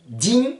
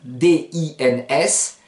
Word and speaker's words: dins: D'une manière générale, ne prononcez jamais la dernière consonne, la deuxième et dernière consonne. Exemple, dans. Din, D-I-N-S, vous ne direz pas par exemple dans ma